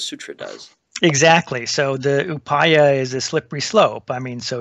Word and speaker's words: Upaya: You mentioned Upaya, or how do you pronounce that? Yeah, Upaya, yeah.